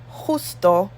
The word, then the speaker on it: justo: J in Spanish is J. It's like an H sound. So we say Jamaica, jugar, justo, y juntos.